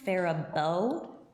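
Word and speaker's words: Faribault: I grew up in fairbow Minnesota go Falcons yes go Falcons the phabo Falcons and it is pronounced phabo not ferol yeah right it's the French influence right it definitely is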